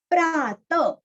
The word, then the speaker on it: प्रातः: प्रात, त के आगे विसर्ग का उच्चारण हल्का सा प, प्रातः प्रातः।